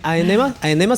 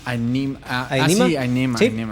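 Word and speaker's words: Ænima: Y Aenema se pronuncia el de Tool. Aenema, sí, el de Tool, claro.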